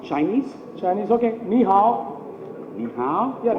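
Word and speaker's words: 你好: Ni hao? Yeah, ni hao means hello. Hello, ni hao.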